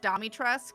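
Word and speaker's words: Dimitrescu: pronounced Domitresk, so it's just like Mommy Tresk just works too Like- well.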